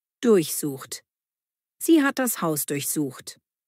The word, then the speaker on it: durchsuchen: Betonung durchsucht.